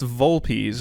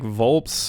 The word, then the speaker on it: Volpes: Okay, it's pronounced Volpes. I didn't know if it was like Volps or Volpez is what I was going to go, but it's Volpes. Like V-O-W-L-P-E-E-Z.